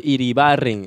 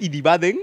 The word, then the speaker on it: Iribarren: ¿Es Iribaden? Iribarren. ¿Es Iribarren? No, sino es que ya la gente se ha acostumbrado a decir porque no puede pronunciar así como. Es que raro, es que raro pronunciar una R, claro. una R o R, como uh-huh. Chucha se diga. Es Iribarren. Sí.